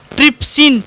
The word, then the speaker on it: ट्रिप्सिन: ट्रिप्सिन, P silent है ना।